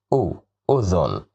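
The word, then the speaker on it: أذن: Here it is udhun. Why did we pronounce it like this? It's because of dhamma. Dhamma makes the sound looks like the u sound.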